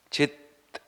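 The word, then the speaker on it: चित्: this chit means consciousness one has to be clear about the pronunciation Chi is mind chit is consciousness so here beautifully said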